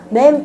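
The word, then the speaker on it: מם: 그리고 풀네임은 맴이라고 돼 있죠. 맴 또는 마임이라고 읽으시면 됩니다.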